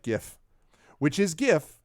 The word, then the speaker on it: GIF: delayed until monday i think so yeah it's pronounced like gif which is gif not jif in accordance with the prophecy i don't care